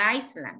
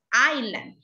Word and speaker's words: island: This one is not Iceland, it's island. In this word, the letter S is a silent letter. This one doesn't sound.